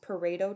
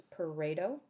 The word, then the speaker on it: Pareto: So that's pronounced Pareto charts, kind of sounds like potato, but it's Pareto. That's an R.